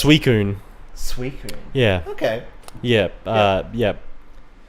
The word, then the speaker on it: Suicune: had no idea as a kid yeah it's suicune sweet yeah okay yep yep so you never